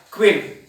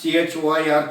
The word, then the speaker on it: choir: The number of singers in a church, the collective noun spelling is CHOIR, but you have to pronounce this as queer. Queer, not CHOIR, choir or choir. It is a queer, okay.